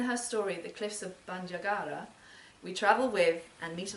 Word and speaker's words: Bandiagara: Bandiagara, and I have no idea if I'm pronouncing that correctly. Can I be corrected? Is Catherine here tonight? Yeah. Bandiagara.